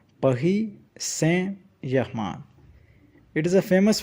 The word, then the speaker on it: Saint: T in Saint is also silent. And Germain will be sounded as Germain. Here is a simple sentence. Esports Paris Saint Germain. Repeat after me. Paris Saint Germain.